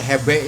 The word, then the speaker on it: GB: Kalau dulu mah orang nggak nyebutnya gedung sate, hebe ya. Hebe. Kalau huruf G itu dibacanya he.